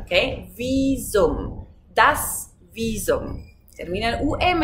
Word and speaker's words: Visum: ¿Cómo pronunciamos aquí la B? Normalmente, tú sabes, la B de vaca se pronuncia como una F. Aquí no, porque es una palabra que viene del latín. Entonces aquí la pronunciamos como la B en español.